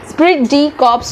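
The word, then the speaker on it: esprit de corps: ई silent होगा बेटा, स्प्रिट डी कॉर्प्स होगा।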